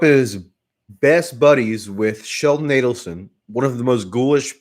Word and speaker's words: Adelson: person and sheldon adelson it's actually sheldon adelson easy to mispronounce sheldon adelson and how do you remember that because sheldon uh allison is adding up his money not aiding up his